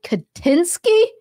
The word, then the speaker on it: Kaczynski: Pronounce it like Nexus Moon said, Kaczynski, Kaczynski.